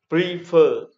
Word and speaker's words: prefer: Example, prefer, prefer, như vậy ta thấy có hai âm tiết, đấy. Prefer, nhưng dấu trọng âm lại rơi vào âm tiết thứ hai, đó là fer.